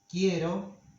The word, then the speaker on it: quiero: when we conjugate them, this E becomes ye, the diphthong ye, in stressed syllables. This happens, for example, in the conjugation in the present tiempo presente. So we say, quiero, quieres, tú quieres.